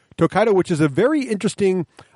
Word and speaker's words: Tokaido: of this game uh tokerio tokaido thank you I knew I get it wrong uh tokaido which is a very